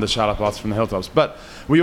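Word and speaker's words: txalaparta: And so one we play on stage is the chalaparta, which is spelled with a TX, and it's sort of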